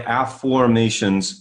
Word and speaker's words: afformations: back in 1997 and i call it my afformations method and you can learn more about that